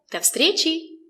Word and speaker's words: До встречи: The letter V is pronounced as f.